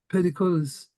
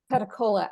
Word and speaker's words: Petticolas: Petticolas. I hope I pronounced your name right. Petacola, actually the S is silent. Petticola.